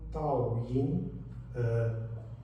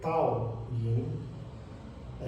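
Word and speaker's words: Dao Yin: vão ver Tao Yin, deve-se escrever com um D, mas na língua chinesa muitas vezes o D é assim mais carregado, mais forte. Então temos um Tao, Tao, Tao, por vezes parece um T, mas é um D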